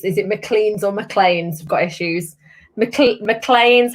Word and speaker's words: McLean: good evening everybody um mclean's mclean's the distillery's on colin's on colleen's on colin has said mclean is the pronunciation thank you colin colin